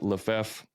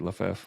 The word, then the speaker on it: Lefevre: Is that right, Lefevre? Lefevre, yeah. Okay. Yeah. I'm always like terrified I'm going to say somebody's name wrong, and I've done it before.